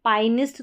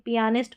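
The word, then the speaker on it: pianist: है पिया ठीक है पियानिस्ट पियानिस्ट अब इसको पाइनिस्ट तो पढ़ेंगे नहीं पियानिस्ट पता है कि पियानो बजाता है उसको पियानिस्ट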